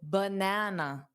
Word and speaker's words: banana: So banana, b, not ba, b, banana.